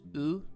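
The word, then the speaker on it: う: It looks like you, but it's pronounced as oo.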